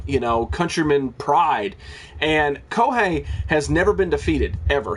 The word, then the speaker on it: Kohei: went to Japan mainly because of Koh hey kohi uh kohe I said it right kohei yakamura um and then